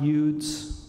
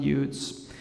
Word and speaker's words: Eudes: John Eudes. In French, I believe they say Eudes, that's how they pronounce his name.